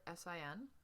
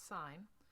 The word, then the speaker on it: sine: S written short s i n not pronounced sin. It's sign.